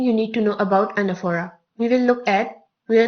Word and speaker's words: anaphora: It is not anaphora. It is not anaphora. It is anaphora. The stress is on the second syllable, nef.